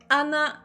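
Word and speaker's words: 穴: Oui, alors il y a Anna. Effectivement, Anna sans H. Hein, c'est pas Hana, la fleur ou le nez. Là, c'est bien Anna, c'est un trou. D'où l'importance de bien prononcer le H en japonais.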